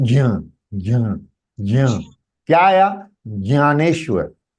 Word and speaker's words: ज्ञान: ग सुनाई देगा, लेकिन ग नहीं है, ज है. लेकिन because of j attached with अनुनासिका, the sound emitted from the mouth is slightly g.